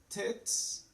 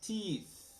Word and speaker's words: teeth: So here we have tits, and here we have teeth. Tits, teeth.